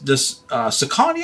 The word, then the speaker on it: Saucony: And this Saucony, I believe is how you pronounce it, isn't the best brand, but the Endorphin Shift is a really good shoe to look out for.